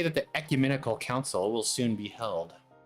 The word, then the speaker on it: ecumenical: I'm looking at the actual dictionary pronunciation. Ecumenical. Ecumenical.